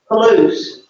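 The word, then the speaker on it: πολλούς: Palouse. Polus.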